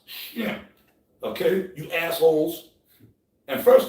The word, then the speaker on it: Shem: I'm gonna say, well, first of all, let's talk about Sem. Yeah. It's Semitic. It's really Shem. First of all, it's pronounced Shem.